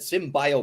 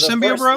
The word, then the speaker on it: symbiote: you always pronounced uh you said SYM bio bro instead of did I really instead of symbiote like 400 episodes until